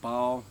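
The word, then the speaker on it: Baal: bail excuse me bail some people pronounce it ball but I'm gonna pronounce it bail Elijah says to them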